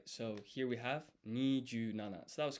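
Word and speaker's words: 二十七: Maybe we can ask ChatGPT, or how is 27 pronounced in Japanese? Nijunana, right? So here we have Nijunana.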